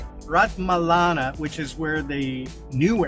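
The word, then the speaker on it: Ratmalana: Rat Malana, which is where the new airport is, which nobody uses.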